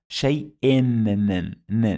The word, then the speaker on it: شيء: 2 kasras, shay'in. It added the sound of nun.